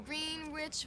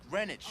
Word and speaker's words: Greenwich: on you're getting that food down there in green rich village no no no first of all it's pronounced greenwich all right you got to get a little